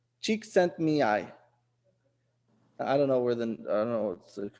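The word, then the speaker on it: Csikszentmihalyi: Pronounce the name Mihai Chink Sen Mihai. That's how you pronounce it. Mihai is the first name. Chik Sent Mihai.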